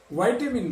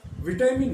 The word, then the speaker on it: विटामिन: इसी तरह से कुछ लोग वाइटामिन बोलते हैं, लेकिन ज्यादातर लोग इसको विटामिन या विटामिन बोलते हैं, तो इसका उच्चारण विटामिन ही करना चाहिए।